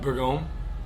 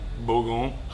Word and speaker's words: Bourgogne: the pronunciation on that again. Bourgogne, Burgundy, Bourgogne, Burgundy, crescent roll.